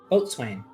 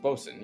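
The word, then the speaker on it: boatswain: Boat swing. But it's boat. Yeah, but that's not how you say it. It's boen. Yeah, it's pronounced Bosen.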